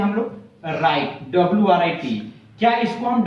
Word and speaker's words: writ: ये WRIT को वराइट नहीं लिखते, W को साइलेंट करते हैं और R से उच्चारण शुरू करते हैं। क्या लिखते हैं? राइट लिखते हैं हम लोग।